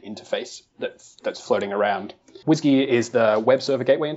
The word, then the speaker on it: WSGI: have heard it pronounced whsy yeah I pronounce it Whiskey yeah me too uh